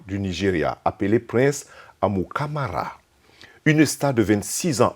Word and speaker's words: Amukamara: à écrire qu'à prononcer à m comme dans mary uca am comme dans mary à ra au nigeria on dirait amukamara et aux etats-unis ont dit amo camara ou amukamara depuis cinq ans dans